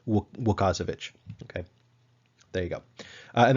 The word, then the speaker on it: Łukasiewicz: So anyway, but yeah, my approximation of how to pronounce this particular Polish name is Łukasiewicz.